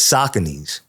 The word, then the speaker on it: Saucony: They saying that it's Sauconys. Oh, that's how you pronounce it?